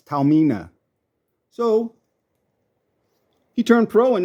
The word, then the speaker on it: Taormina: name in Italian it's Tarina in English the r is silent it's Tamina so he turned Pro